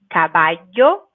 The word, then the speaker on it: caballo: When we see one L, we say it just like L. But if we see two L's, then we should say it like Y. So caballo and gallina. Perfect. So double L and it makes the Y sound.